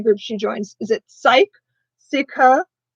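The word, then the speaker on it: Cike: Okay, yeah, Mickey says it's Sikha. I was saying it right. Oh, I'm so proud of myself that I got it. I was pronouncing it right.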